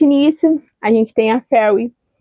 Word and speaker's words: Feyre: Eh, eu sei que é Fer, enfim, mas eu vou chamar de Ferry como uma boa brasileira leitura que sou. É Ferry, tá bom? Então assim, eu sei que a pronúncia não está certa, mas vai ser assim.